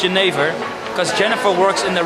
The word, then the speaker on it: jenever: So in English, some people would say it's pronounced as Jennifer. Unfortunately, it's Jennifer, because Jennifer works in the red light district, and that's where we're going now.